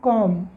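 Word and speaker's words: comb: जैसे कि हमने पढ़ा सी ओ एम बी कि स्कूल में पढ़ते हैं कॉम कॉम मतलबी यहां पर क्या है साइलेंट है क्या है साइलेंट है साइलेंट का मतलब क्या होता है कि उसको राइट करना है बट रीड नहीं करना है कुछ बोलना नहीं है लिखना है सिर्फ कॉम जैसे एग्जांपल लेकर बीडीओ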